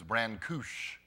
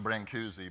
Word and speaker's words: Brancusi: interesting in the book the author says the pronunciation of Brancusi is brand couche I don't know that's right but I'm used to bring koozie but pack and Davies